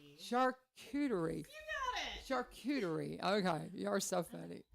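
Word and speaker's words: charcuterie: Thursday the 24th starting at 11:30 with the charty did I say it right so close so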